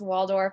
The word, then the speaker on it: Waldorf: my name is my last name is pronounced waldorf like the salad the hotel whichever you need to pronounce it correctly um so a little